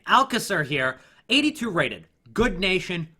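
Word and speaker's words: Alcácer: up Alka sir yes I have learned how to pronounce his name Alka sir here 82 rated good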